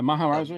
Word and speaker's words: Maharaja: If Batman doesn't comply, then the Maharaja, or the, I heard, am I pronouncing his name right? The Maharaja, yeah, sure.